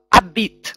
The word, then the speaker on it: habite: Следующее слово «абит». У нас «аш» не произносится.